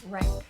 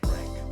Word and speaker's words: Renk: Ellen, how do you pronounce your last name? Rank. Renk, perfect.